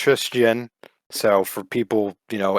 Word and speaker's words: Tristian: and then it's pretty it's basically like christian but just put a tris at the front so instead of christian